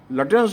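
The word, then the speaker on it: Lutyens: में रहते हैं, लेकिन कम से कम लटेंस का उच्चारण लुटियन ना कहें कृपया।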